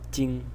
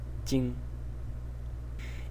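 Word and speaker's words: 巠: And this is pronounced jing, jing.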